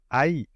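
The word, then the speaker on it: 愛: pour le mot amour qui en japonais se prononce Aï a une seconde signification bouddique celle-là traduite par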